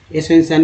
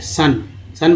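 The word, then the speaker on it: sun: सन में वो का उच्चारण देखिए सन बोल रहे हैं, सोन थोड़ी बोल रहे हैं।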